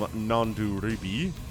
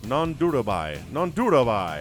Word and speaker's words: Nanduribhai: A third base is coming in from nanduribhai. Nanduribhai. How about that? Nanduribhai. Man, 4 syllables is a lot.